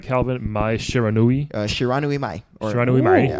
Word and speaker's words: Shiranui Mai: Mai Shiranui. Shiranui Mai. Shiranui Mai. Yeah. Shiranui Mai.